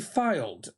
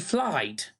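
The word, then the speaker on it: Fylde: It's filed, as in file. I thought it was fly because it had L and Y.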